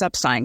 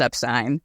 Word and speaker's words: Epstein: said hey you know I know that your father and your grandparents were Epstein you're probably epin but Brian was Epstein can you confirm and yep it's Epstein and he said Brian was upstein yep written 100% written